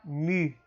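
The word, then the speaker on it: μῦ: Bom, também seguindo aí o alfabeto, você tem a letra Mi. Mi, ele tem som de M, mas aquele M mais como se fosse puxando aquele som que a gente faz em francês.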